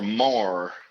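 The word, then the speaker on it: maar: Mar. So it's pronounced like mar.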